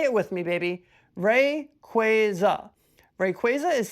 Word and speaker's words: Rayquaza: See, it's not Rayquaza, it's Rayquaza. Say it with me, baby. Ray Quaza.